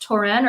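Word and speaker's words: Touraine: We have Luca, and I'm actually really curious is it pronounced Torin or terrain? Terrain for the general?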